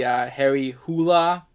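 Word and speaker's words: Harry Hole: I think that's how you actually pronounce his name. Although the author says he doesn't care if you pronounce it whole, but I believe the actual pronunciation of that is Harry Hula.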